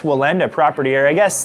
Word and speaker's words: Wallenda: with the ax and it has more of like a V invoked in the beginning of it But I I've never heard it Pronounced like that.